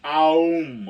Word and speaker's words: Om: You're supposed to go like om from your belly, and it's supposed to be aum, okay?